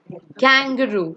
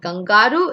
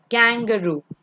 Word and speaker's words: kangaroo: The next one is kangaroo. It's not gangaru. It's kangaroo.